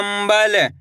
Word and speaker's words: कंबल: मिलके बन जाएगा लंदन कम ब ल कम कंबल इस शब्द के अंदर अपन ने आधा मा का उच्चारण करा है।